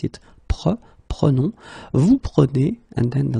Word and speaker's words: prenons: Okay, keep in mind that you should pronounce it prenons, vous prenez, and then the last one, the tricky one, ils prennent.